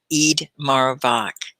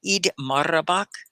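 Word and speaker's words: Eid Mubarak: for all of them eid marabak oh that's beautiful did i say it correctly eid marabak i think you have to roll the r i'm going to pin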